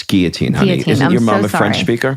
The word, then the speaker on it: guillotine: and you're starting to get disoriented we don't pronounce the Ellen it's guillotine your mom the French speaker you ever call